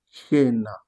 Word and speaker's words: cena: Comme on a dit par exemple, lorsque on a le C devant EI, on le prononce quoi? Je. Comme par exemple, cielo, cena.